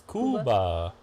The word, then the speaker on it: Cuba: Leslie and St Clair is that Cuba Kuba it's Kuba uh yeah so svin